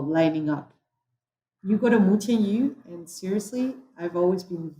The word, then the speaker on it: Mutianyu: So, but So okay, so you will go to Mutianyu. okay, I need to find out. So that's Mutiali.